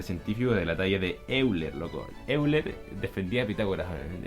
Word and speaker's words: Euler: Se pronuncia Euler.